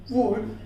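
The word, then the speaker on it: would: वुड और शुड जो है यहाँ पर देखिए उससे पहले D से पहले यहाँ पर क्या हुआ, L आया, इसीलिए इसे साइलेंट रखा हुआ है।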